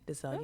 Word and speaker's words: Dazelle: So So like the animal gazelle, but with the D. So it's DAZELLEYVETTE. Dazelle.